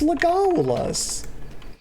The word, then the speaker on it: Legolas: Y'all, it's Legolas.